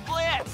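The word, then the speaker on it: Blitzø: I think the name's Blitz. The O is silent.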